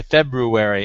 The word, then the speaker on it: February: on the TV and they say February and I go yay the GU you know pronounced it right so it's just one